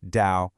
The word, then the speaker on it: Tao: So, the toao, it's pronounced dao.